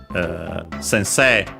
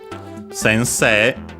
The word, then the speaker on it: sensei: Actually the uh suffix uh sensei sensei uh accented on the second uh set. So on the technically last syllable because of of course the e uh